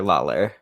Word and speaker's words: Lawler: here with um david how how do you pronounce it not lawyer lawler lawler okay yes all right yeah it's it's